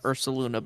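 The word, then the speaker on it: Ursaluna: make a little correction it's actually pronounced URS saluna baby mama common misconception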